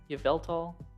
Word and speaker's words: Yveltal: we see uh yavat is there a proper pronunciation for this I've heard so many different Yveltal I think it's Yveltal yelt uh when will